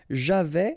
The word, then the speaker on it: j'avais: Okay, so j'avais, final S not pronounced.